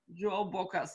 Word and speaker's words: João Bocas: your name how do i say it right joe bocca's absolutely beautiful fantastic so we here in december